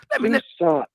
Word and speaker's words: Tucson: Tucson. Like Arizona with the T behind.